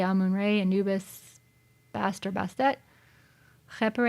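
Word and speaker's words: Amun-Ra: stuff Malcolm must know how do you pronounce a moon ray I mean I would say ah moon ray Anubis faster best at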